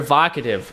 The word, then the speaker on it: Vocativ: it calm is one volcom it is how you pronounce it voc I'm sorry vocativ vocativ